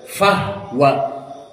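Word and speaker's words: فهو: abi amr and alkisai not say fua ber fahwa fahwa with sukunil ha. Maka ini dari usul yang keempat yang tadi lupa terlewat karena di sini kita akan membacanya fahua maka dibaca ha dalam keadaan sukun fahwa seperti qiraah siapa?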